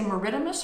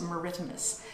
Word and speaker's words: maritimus: polar bear is ursus meridimus you can say meridimus or maritimus but i gather that the correct pronunciation is meridimus and we are going to work on capturing